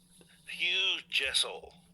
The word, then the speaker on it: Hugh Jassol: ] but it's all right hu Hugh huge Hugh Jessel that's how you pronounce it J Jess but I like it